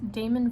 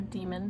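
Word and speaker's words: Daemon: philip pullman which is damon voices or demon depending on how you pronounce it and it's on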